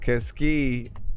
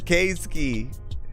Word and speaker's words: K-Ski: Keski also had one as well. You're like, what the fuck is a Keski? It's K-Ski. K-Ski.